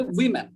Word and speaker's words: women: কিন্তু আমরা যখন বলবো WOMEN, তখন উচ্চারণটা হবে উইমেন, ওম্যান, উইমেন।